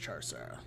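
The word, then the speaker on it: Chau Sara: I think it's pronounced Char-Sara.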